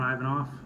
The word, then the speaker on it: Ivanov: Authority ladies and gentlemen my name is ivanof I'm the chief of Public Safety for the Tucson Airport Authority name is spelled this afternoon at approximately 12:40